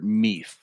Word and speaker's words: Mueth: It's Zander Mueth. Is that correct? Zander Meath. There isn't a second Mueth in Pittsburgh. Right. Zander Mueth.